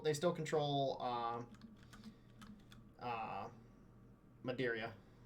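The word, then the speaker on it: Madeira: still control uh uh Madia or Madera Madera that's how you say it so they they they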